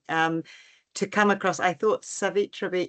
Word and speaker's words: Savitribai: I thought Savitribai, is it how I say it? Savitribai? Savitribai, yeah, the second Savitribai.